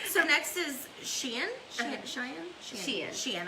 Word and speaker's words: Shein: I want to make sure to say her name right. Because I wanted to say it Cheyenne when I saw it, but it's like Shein, like the clothing store that's on that we buy.